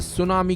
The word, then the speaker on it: tsunami: पहले जानते हैं कि सुनामी का मतलब होता क्या है दरअसल सुनामी शब्द जापानी शब्द ूस यानी बंदरगाह यह तट के नामी यानी लहर से मिलकर बना है इसमें टी अक्षर साइलेंट होता है सुनामी आने की सबसे